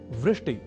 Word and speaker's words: वृष्टि: एक शब्द है वृष्टि या वृष्टिह। पर कभी-कभी हम में से कुछ व इस अक्षर का उच्चारण ब के रूप में कर दिया करते हैं। और वे बोल जाते हैं वृष्टि या वृष्टिह।